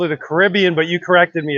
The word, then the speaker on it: Caribbean: And I've always loved Caribbeans. And to be honest with you, I think I've been mispronouncing it for years. I called it a Caribbean, but you corrected me. It's a Caribbean.